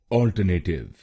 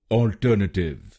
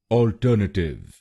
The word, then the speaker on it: Alternative: काफी लोग भारत में इस शब्द को गलत बोलते हैं, जैसे ऑल्टरनेटिव। आइए सीखते हैं इसकी सही प्रोनाउंसिएशन। इसकी सही प्रोनाउंसिएशन है ऑल्टरनेटिव। ऑल्टरनेटिव। इस शब्द में 4 शब्दांश हैं। पहला शब्दांश है AL, दूसरा शब्दांश है TER, तीसरा शब्दांश है NA और आखिरी शब्दांश है TIVE।